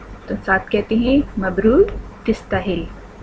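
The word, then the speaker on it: تستاهل: ساتھ کہتے ہیں مبروک تستاہل۔ اماراتی لہجے میں تستاہل اور ویسے تستاہل، مبروک تستاہل، مبروک تستاہل یا تستاہل، کنگریچولیشنز یو ڈیزرو، مبارک ہو آپ اس کے مستحق ہیں، تستاہل ڈیزرو۔ مع السلامہ، زیربک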